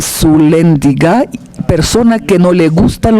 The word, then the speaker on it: Sulyandziga: En mi idioma natal se pronuncia Pavel Sulendiga, persona que no le gustan los astutos.